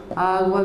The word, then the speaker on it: agua: По-испански эти три существительных совпадают фонетической структурой. Это двусложные слова с ударением на первом слоге. Слова меняются местами, ритм остается. Agua, viento, piedra.